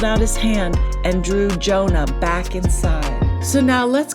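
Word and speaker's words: יונה: And we see the word for dove in Hebrew is pronounced Jonah.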